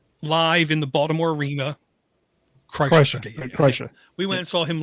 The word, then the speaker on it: Kreischer: And we were, we went and saw Bert Kirshner, I think is how you pronounce his name, The Machine, live in the Baltimore Arena. Kreischer.